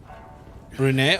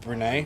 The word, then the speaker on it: Brunei: Brunei? Okay, that's how you pronounce it. Brunei.